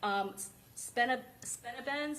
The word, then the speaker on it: Spinabenz: Heard some of the drill rap from Spinabenz, is that how you say it?